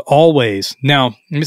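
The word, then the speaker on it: Alvvays: Indie pop band called Always now let me say this I had pronounced it all vase for a long time because it's spelled a-l-v-v-a-y-s I discovered them on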